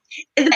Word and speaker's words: Gourdine: Because I have a friend named last name Gourdine. Yeah, you pronounced it right. A lot of people usually pronounce it Gourdine, but you pronounced it correctly as Gourdine.